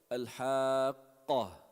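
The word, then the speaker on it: الحاقة: When you pronounce qaf softly, it becomes kha. Al-haqqa, almost like that. You want to give it shiddat. Al-haqqah. Pause in the sound.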